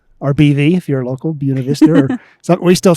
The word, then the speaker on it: Buena Vista: We would come, and since we're in Buena Vista, or BV, if you're local, Buena Vista, or we still say Buena Vista.